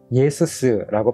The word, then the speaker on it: Ιησους: 하는 것은 헬라식 이름인데요 이렇게 써요 예수스고 발음하는데이 의미는요 하나님은 구원이시다라고 하는